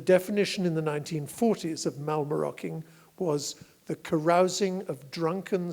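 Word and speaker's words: mallemaroking: brilliance of the English language is the word malmö rocking it's spelt ma ll e ma r okay ing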